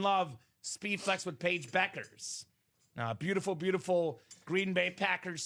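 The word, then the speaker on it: Bueckers: Not Bukers, Beckers. Pronounce Beckers. it properly. Yeah. It looks like Bukers, but it's Beckers.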